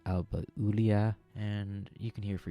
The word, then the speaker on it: Alba Iulia: Wikipedia page now, and it's properly pronounced Alba Iulia, and you can hear for yourself how you should say it.